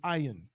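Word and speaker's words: עין: This is how we, in Hebrew, if I was talking about your I would say ayin.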